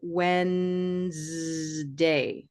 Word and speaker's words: Wednesday: What about this E? Silent. That's a case where I'll call that is truly a silent E, right? We Mhm. don't make a syllable out of this.